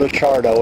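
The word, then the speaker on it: Acciardo: microphone yes uh my my name is a chardo and it's spelled g i l b e r t last name is a chardo and it's a c c i a r d o and I am the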